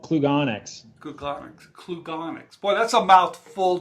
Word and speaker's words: Klugonyx: because I solve it I'm quite sure I pronounced that correctly yeah it's called Klug onyx onyx well that's a mouthful Jason yes good